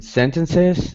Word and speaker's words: sentences: I think generally for that one, our T would be a little bit more pronounced. So sentences. Sentences, sentences, sentences. Write your sentences out. Yeah, sentences. So we do pronounce that T, despite the N.